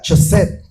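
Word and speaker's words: חֶסֶד: Hay una palabra hebrea, se pronuncia chesed.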